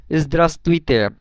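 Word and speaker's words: здравствуйте: পরে একটা ভে আছে কিন্তু এখানে দুই ভের কোন ভের উচ্চারণটাই হচ্ছে না ইসতাসতুইতে দেখেন তো এখানে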